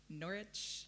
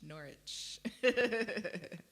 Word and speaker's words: Norwich: gonna say it wrong because I'm Americans I'm like Norwich it's not Norwich Norwich okay so the thing